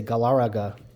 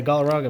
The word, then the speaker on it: Galarraga: When I was a kid, I didn't know how to say his name, so I used to say Galarraga.